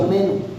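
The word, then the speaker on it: μένω: La palabra permanecer viene de una palabra en el griego que se pronuncia meno.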